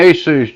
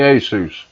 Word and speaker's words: Asus: I know different people got different ways of pronouncing it. I say Asus.